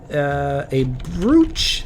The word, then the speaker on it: brooch: I know it's spelled brooch, but it's pronounced brooch. I was like, Brooch. it's spelled wrong. Yeah. Like roach.